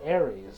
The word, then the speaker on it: Ares: So, I mean, here we pronounce it Aries.